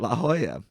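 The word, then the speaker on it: La Jolla: Some Angelino socialites find each other a dollar if they say la hala and they give each other a picassa or a goya for pronouncing it la hoya.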